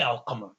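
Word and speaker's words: القمر: a sun letter, you would know when you see it to say ashamsu. Even if there wasn't, a shadda there, you say ashamsu. And even without qamar, if there was no sukoon there put there for us conveniently, because we know that the qaf is a moon letter, we'll say al qamar.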